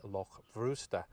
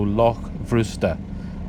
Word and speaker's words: Loch Bhrusda: Now, as I understand it, in Scottish Gaelic, that BH combination is pronounced as a V, so Loch Bhrusda.